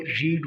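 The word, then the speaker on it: read: number D को देखें इसकी स्पेलिंग तो वही रीड वाली है लेकिन इसको हम यहां पर जो प्रोनाउंस करते हैं तो इसकी प्रोनंसिएशन वो रेड बन जाती है जॉली रेड अ बुक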